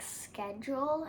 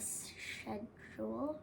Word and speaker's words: schedule: In America, we say it like schedule instead of schedule.